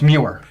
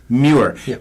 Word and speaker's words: Muir: of your first name its Muir Muir Gaelic yes it is my it was given